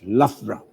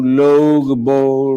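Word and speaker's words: Loughborough: city which is spelled as l-o-u-g-h-b-o-r-o-u-g-h it's actually pronounced as lafra so how did you do most non-british people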